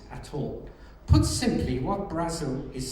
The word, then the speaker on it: Brazil: the late David Brazil spelled like the country but pronounced Brazil David Brussel in 1995.